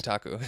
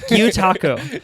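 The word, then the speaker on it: gyotaku: How do you pronounce this? Gyutaku. Gyutaku.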